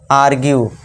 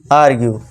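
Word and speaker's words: argue: Next fourth रूल से देखिए क्या है दोस्तों, जब किसी वर्ड के लास्ट में यू ई आए तो यू ई का उच्चारण भी यहाँ यू होगा। अब देखिए दोस्तों, यू ई लास्ट में सभी में है, जी हाँ है सभी में। तो यहाँ पे क्या इसे करेंगे, परस्यू, यू का उच्चारण लॉन्ग वाले करेंगे, वैल्यू, issue, आर्ग्यू, pursue, वैल्यू, issue, आर्ग्यू।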